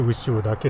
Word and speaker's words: 潮嶽: これ牛尾岳って読むんですけ